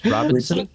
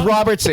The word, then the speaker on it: Robertson: Oh, did I say Robertson earlier? Robinson? Did I say it wrong? Robinson. I said, it's Robertson.